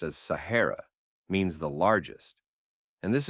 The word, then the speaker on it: Sahara: The name, which locals pronounced as Sahara, means the largest.